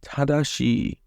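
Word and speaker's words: 正しい: And then we've got tadashi, meaning correct. This word uses a reading you didn't learn from the kanji, so you have to remember the tada portion in order to read this word.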